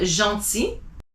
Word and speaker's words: gentil: If you have a G that's next to a vowel, IE is J. So giraffe, gentil.